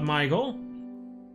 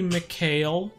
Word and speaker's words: McHale: you for the sub michael that's when you go it's actually mchale god you can't pronounce anyone's names right hey grayley geese